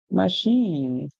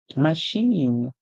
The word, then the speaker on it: machine: we hear Mash in so it actually means that the e at the end is silent and the I take us up a new song to say e so we he machine machine and what is a